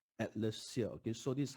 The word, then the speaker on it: Atlassia: You have to pronounce two words. One is Atlas. Atlas means the globe, right? The globe. Atlas, Atlas, and also combining with the other word called cassia. Okay, cassia tree, Cassia.